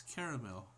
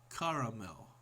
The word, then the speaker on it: caramel: How do you pronounce caramel? Caramel. Caramel. With three syllable caramel. Other. I pronounce it caramel.